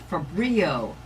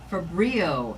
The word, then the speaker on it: Fabrio: The word you need to remember is Fabrio. Fabrio, Gary White said to me multiple times from Tridec so that I would say it properly. I won't even tell you the way other people are saying it, but the proper way is Fabrio.